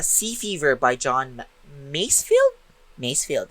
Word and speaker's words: Masefield: Masefield, if I'm not mistaken, that's how it's pronounced.